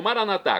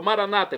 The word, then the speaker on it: maranatha: E agora eu clamo maranatha, como dizemos nós católicos, ou maranata, como dizem nossos irmãos separados, os evangélicos ou protestantes. Não importa a pronúncia, o significado é o mesmo, vinde, Senhor Jesus.